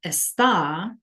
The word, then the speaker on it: está: The only difference in spelling here is the fact that this word está has the accent over the A, right? So it's donde está, esta. So you can hear a difference in pronunciation, but it also changes the meaning.